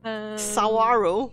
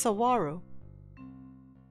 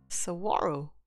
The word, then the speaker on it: Saguaro: my little one I'll be right back okay sawaro oh it's pronounced Saguaro Saguaro uh okay so let's do some bread just